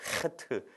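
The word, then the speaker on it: חית: 이 단어가 뭐냐면 바로 하트라는 단어예요 사실 정확히 말하면 약간 가래가 끓어야 돼요 이렇게 하트 이렇게 좀 발음을 해야 되는데 이걸 보시면 여러분들 무엇과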